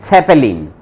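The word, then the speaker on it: Zeppelin: इसको क्या इसको पढ़ेंगे साखारियास, साखारियास, साकारियास और इसको पढ़ेंगे सेपेलिन, सेपेली सेपेलिन।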